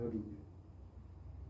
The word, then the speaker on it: hygge: Somebody was talking about the Danish concept of hygge. That's how you pronounce it, hygge.